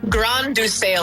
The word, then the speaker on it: Grain de Sail: g r a i n like grain the s a i l sail.